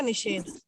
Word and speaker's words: निषेध: सा का श हो जाता है, पेट फटा वाला श। चलो, नी जोड़ छेद, नी जोड़ सेध लिखा है सॉरी, अब इसका बनेगा निषेध। निषेध।